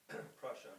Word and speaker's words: Prussia: Russia. Prussia. I don't know how to say it. Prussia, Germany. Prussia. Prussia. I said it right the first time.